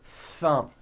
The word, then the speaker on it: thumb: that you see that notice how long i'm holding the th sound thumb it's not good enough just to put your tongue between your teeth and say a th word like this thumb you see that my tongue came out but there was never any air friction that's not good you must stretch out the th sound and hear the air friction thumb like that let's